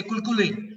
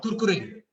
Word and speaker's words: Kurkure: They cannot pronounce the sound of R. They say Kulkule or Kurkure.